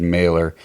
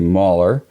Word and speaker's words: Mahler: name incorrectly last name I think I said mailor it's actually merer so thanks again bill